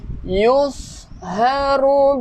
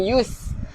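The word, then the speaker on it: يُصْهَرُ: Yusharu bihi ma fi butunihim wal julud. Sad tu tebal kan, bukan yus. Kalau yus untuk sin, ni sad.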